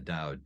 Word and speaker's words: Dao: that duh and the Dao da Jing um in more traditional ways of writing it it was spelled with a t in modern ways of spelling is spelled with a D um and so you